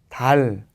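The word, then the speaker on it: 달: Por ejemplo, si no hubiera tenido la L como aquí abajo, la pronunciación sería ta. Ta que significa todo. Ya aprendimos, ¿verdad? Pero con la L, como la pronunciación es tal.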